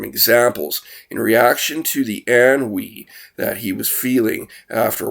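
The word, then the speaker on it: ennui: NN UI meaning a boredom uh so it's pronounced an we a feeling of weariness and dissatisfaction boredom examples in reaction to the an we that he was feeling after working for 12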